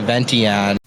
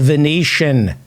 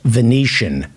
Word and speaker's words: Venetian: uh notice the way this pronounces the Venetian Oak Room at the ventian the Oak Room at the vention Oak Room